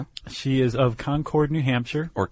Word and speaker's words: Concord: She is of Concord, New Hampshire or Conquered.